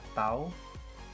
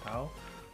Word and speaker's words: tau: Ini dibacanya tau ya. Momen gaya atau torsi ya, nama lainnya torsi, itu disimbolkan dengan tau.